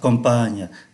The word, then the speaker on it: campagne: la ville et la campagne, thành phố và nông thôn. Đây chúng ta để ý, ký tự M ở đây được phát âm là N do bởi đứng trước P.